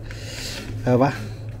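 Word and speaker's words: piwo: Perwa. And when I say pronounce it perwa, that's L is actually a W.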